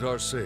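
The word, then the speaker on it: Arseid: I'm Viscount Arsade. Oh, that's how you pronounce it.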